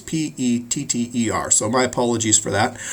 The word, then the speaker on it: Petter: I spelled their name wrong on the PowerPoint, but you can see on the book it's Petter.